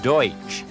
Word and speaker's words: Deutsch: they are not dutch the term pennsylvania dutch is a mispronunciation of the word deutsch which means german they continue to speak